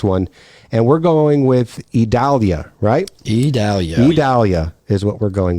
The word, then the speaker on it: Idalia: kind of like how we want to say it because you just take the V off of our our town and our inner areas but no that is not how it is phonetically put out for us yeah and that